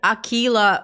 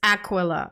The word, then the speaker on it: Aquila: The paperwork calls this heresy Y'all, I kept saying Aquila for the longest freaking time. It's Aquila, okay. Also, the where you put the emphasis matters.